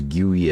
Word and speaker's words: GUI: for graphical user interface a lot of people pronounce it as guy as well but I personally think that's a little weird so I'm going to call it GUI but you can pronounce it however you would like to now down here inside